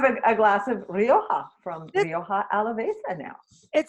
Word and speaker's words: Rioja Alavesa: pronounce Rioja Alavesa correctly, or is there a You better?